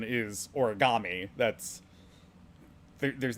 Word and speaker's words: origami: also we definitely well first off the correct pronunciation is origami that's there's not a a sound in uh